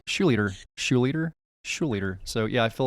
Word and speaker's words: Schlueter: I said leader with the SCH at the beginning.